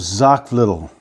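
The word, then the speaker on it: Xocolatl: how you pronounce it so i sell it with zoc little and it's spelled x-o-c-o-l-a-t-l and that means bitter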